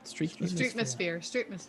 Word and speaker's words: Streetmosphere: How do you pronounce it? Streetmosphere.